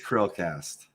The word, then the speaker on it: CHRILLCAST: It is CHRILLCAST. Just don't. If you're curious why, it's really simple. CHRILLCAST. It's Chris plus Will Hansen.